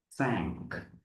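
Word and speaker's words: cinq: Then five is sank sank.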